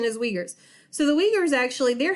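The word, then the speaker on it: Uyghurs: restricting human rights for example let's take the we Gers there the uig hu r s so not ever know i thought i was supposed to say it but that is actually the correct pronunciation is wiegert's so the leaders actually they're having re-education camps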